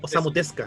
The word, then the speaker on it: Osamu Tezuka: La pronunciación como japonesa no se pronuncia la U. Sería Sería como Osamu Tezuka.